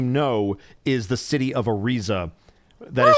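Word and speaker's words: Ariza: and doorer you know is the city of arza that is spelled a r i z a ah you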